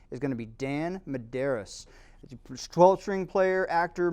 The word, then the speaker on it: Medeiros: Medeiros.